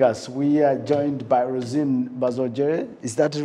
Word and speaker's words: Rosine Bazongere: who are joining us we are joined by rosine bazogger is that the right pronunciation of your name actually yes what is